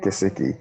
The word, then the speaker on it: Gesicki: Gesicki? Gesicki.